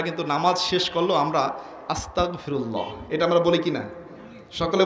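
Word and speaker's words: أستغفر الله: হয় না আমাদের সহি করতে হবে উচ্চারণটা হবে আস্তাগফিরুল্লাহ উচ্চারণ হবে আস্তাগফিরুল্লাহ তাহলে অর্থ হবে আল্লাহ আমি তোমার কাছে ক্ষমা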